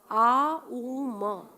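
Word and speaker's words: ॐ: ये इस उच्चारण के साथ हमारी चेतना, ध्यान से सुनना, इस उच्चारण के साथ कौन सी, आ उ म, ओम नहीं और ओ म नहीं,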